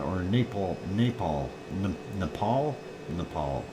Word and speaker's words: Nepal: Napal Napal NE Nepal Nepal there I said it right not Naples Nepal uh 3.8 it's